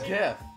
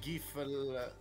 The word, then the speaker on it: GIF: So yeah, I say GIF. Say GIF with the hard G.